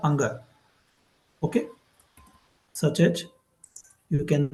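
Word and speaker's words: ङ: Okay, and when we analyze this letter, you can see 5th letter of the first row, ka, kha, ga, gha, anga.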